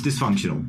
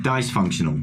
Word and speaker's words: dysfunctional: He pronounces it like dice-functional.